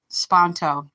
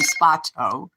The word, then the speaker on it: Sparto: I'm going to tell you a quick story right quick about Chris Printup Spanto. Excuse me, Sparto. I'm pronouncing his name wrong.